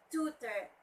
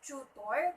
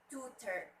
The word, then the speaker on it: tutor: Okay, it's tutor. People usually say it's tutor, but it should be tutor. Tutor. The stress should be at the first syllable, and tutor.